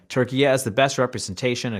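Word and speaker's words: Türkiye: spelled Turkiye, Turkiye, with the umlaut U, and pronounced Turkiye.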